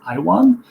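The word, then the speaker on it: IAWN: So now we have two organizations, the International Asteroid Warning Network, also pronounced IWAN, and the Space Mission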